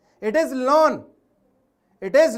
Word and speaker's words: ln: It is lawn. It is lawn. Okay.